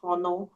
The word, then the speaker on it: honor: In English, those are the exceptions where you don't pronounce the H. So it's not honor. No, it's not honor.